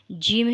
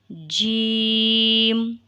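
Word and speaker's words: ج: one dude is sided Jim has a long light sound it is pronounced from the middle of the tongue and roof of the top of mouth so you can read after me Jim read once again right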